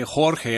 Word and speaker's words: Jorge: big name an agency here Jorge Mendes ok Jorge I believe that's how you would pronounce that in Spanish he represents some of